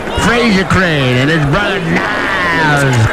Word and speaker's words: Niles: Frasier Crane and his brother Niles Crane, which rhymes with Giles, Niles, and Giles. Padres lead this with 1-0, and all the ducks are on the pond for Brian Giles.